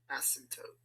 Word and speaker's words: asymptote: It's actually a what? Asymptote. Asymptote. Tote. Like that, right?